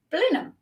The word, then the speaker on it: Blenheim: as everybody else and decided that it is pronounced Blenheim so that's where I live um and I